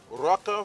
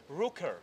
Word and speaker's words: Rooker: This is the Rocker family, I think. Did I say it correctly? Rooker. Rooker. Yeah, but it's almost like rocker. Almost like a rocker.